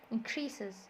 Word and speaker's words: increase: So the verb, the stress is on the second syllable, increases, increases. The noun, the stress is on the first syllable, increase, increase.